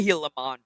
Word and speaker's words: Gilamon: they focus so much attention on get the pronunciation right it's the healon no step on heon love it oh that